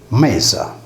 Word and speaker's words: Media: Mesa vuol dire pertanto in meso, in mezzo, similmente all'antica città laziale di Media, pronunciata Mesa.